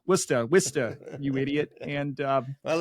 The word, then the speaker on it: Worcester: 99% of the country you would read it phonetically as Worchester and I did that and it was in like the first three minutes of part one of of my patriarcha episode and within a couple of minutes of posting it it was immediately comment after comment after comment going it's wora wora wsta you idiot and um